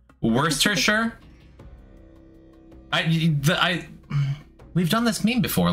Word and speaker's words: Worcestershire: Worcestershire. Worcestershire. We've done this meme before. Like, I'm pretty sure you try to make it as close to one syllable as you can.